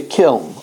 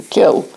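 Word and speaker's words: kiln: this is what quotes when it's baked in the kil or as we said there's another pronunciation the kil because that's when it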